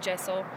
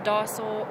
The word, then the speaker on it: Deosil: Now, Deosil can be pronounced many different ways. There's not really a set pronunciation. I pronounce it Deosil, but it can be pronounced Deosil or Deosil. Any way is correct.